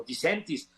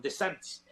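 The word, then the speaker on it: DeSantis: meter al bote es el señor no se pronuncia bien decentes o disentis en la Florida de santis perdón de santis y y la realidad es que que no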